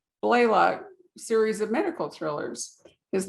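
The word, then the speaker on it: Blalock: of the joanna blaylock was it blaylock or blailock how do we pronounce it blaylock blaylock series of medical thrillers his novels have been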